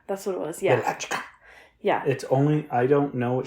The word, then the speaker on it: Wieliczka: Wieliczka. Wieliczka. That's what it was, yeah. Wieliczka.